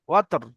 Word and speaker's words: والوتر: والوتر والوتر والوتر والوتر লাস্টে ওয়াও তা র রটা উচ্চারণ করতে হবে ওয়াও তা র জবর ওয়াতর ওয়াল ওয়াতর وتر والوتر